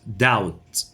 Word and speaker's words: doubt: Definitely بالتأكيد certainly or without doubt will be silent doubt low وننطقها low وليست